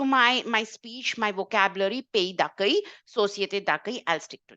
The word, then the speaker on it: d'accueil: Pays d'accueil, société d'accueil. D'accueil is a pronunciation, guys. Don't get this wrong, please. Don't say accueillir, aki, whatever.